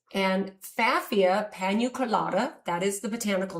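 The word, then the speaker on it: Pfaffia: Now, we named this fafia. The P is silent, and fafia paniculata, that is the botanical name.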